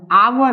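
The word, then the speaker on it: hour: स्टडेंट क्योंकि ये आपका लिख तो रहे हैं हम एच से लेकिन जब हम इसको प्रोनाउंस करते हैं तो प्रोनाउंस करने के अनुसार ें क्या आता है आवर आता है और ये जो आवर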